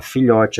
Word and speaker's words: filhote: Veja que eu já circulei da palavra filhote, a sílaba tônica é o lhó. Então, eu circulei a sílaba tônica, o lhó. Filhote, o lhó, eu falo com mais intensidade, porque ela é a sílaba mais forte.